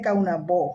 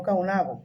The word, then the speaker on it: Caonabó: porque vuelvo y repito, se dice Caonabó, no Caonabo, pero ya es difícil de que la gente, todo el mundo, pues el nombre realmente como se pronunciaba era Caonabó.